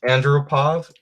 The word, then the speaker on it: Andropov: Andropov.